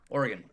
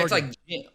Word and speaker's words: Oregon: Oregon. Or yeah, Oregon. it's almost like origin. Gin.